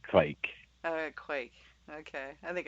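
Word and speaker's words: kveik: yeah I I think it's like a a soft v so if you kind of combine a w and a v I think that's the and then otherwise rhyme with bike so like Quake oh Quake okay I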